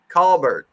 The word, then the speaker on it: Colbert: like way back when i said colbert and they're like nah nah it's call call bird right call that's funny